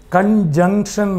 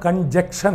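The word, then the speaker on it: conjunction: ഉച്ചാരണം കൺജങ്ഷൻ ആണ്, കൺജക്ഷൻ അല്ല. ഇവിടെ ജക്ഷനാണ്.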